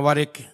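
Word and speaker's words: ورق: itu Sumatera waminal wariq sedangkan dari perak atau fidoh bacanya warq Kalau warq kertas ya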